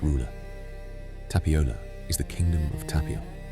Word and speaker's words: Tapiola: In Finnish, the realm of this forest has a name, Tapiola. Say it slowly. Ta-pi-ola. 4 syllables, each one settling a little lower than the last.